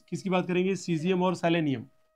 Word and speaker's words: सीजियम: सीजियम और selenium. Cerium नहीं कहें, कोई ऐसा नहीं है, ध्यान रखना, स्पेलिंग मिस्टेक है. सीजियम. तो सीजियम कितना भाई?